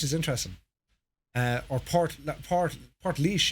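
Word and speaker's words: Portlaoise: Yeah, Port Leash is interesting. Or Port Leash is how they pronounce it. It's been anglicised, but yeah.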